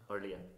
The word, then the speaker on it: Orlia: Is it Orlith or Orlia? Orlia. I would have traditionally pronounced that Orlith, so from now on I'll pronounce that Orlia.